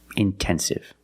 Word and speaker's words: intensive: But if the stress is after NT, then you have to pronounce the T like a pure T. Intensive.